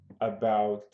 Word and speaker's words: about: Você não pronuncia o T.